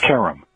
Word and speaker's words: Karam: right half the time it's pronounced Kum Kum okay and I'm told that that's an Americanized mispronunciation of the original but it works for us okay welcome it's so